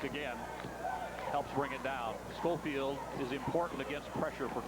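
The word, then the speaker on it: Sculfield: Pronounces his name Schofield, even though it's spelled S-C-U-L-F-I-E-L-D.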